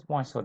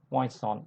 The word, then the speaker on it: Poisson: What is Poisson distribution? I repeat that its pronunciation is not Poisson, it's rather Poisson.